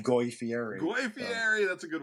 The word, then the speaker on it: Fieri: I know his name is Matthew gets it. Fieri, but if I said Goy Fieri, nobody would get it because everyone mispronounces his name, but it's Fieri.